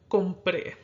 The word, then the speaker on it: compré: Compré is accented on its final syllable when, if it followed the natural stress rule, it would be accented on the syllable before that.